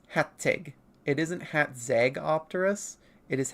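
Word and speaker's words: Hațeg: But generally, when written in English letters, whatever those are called, it is like hat and then egg. Because it's Hattig.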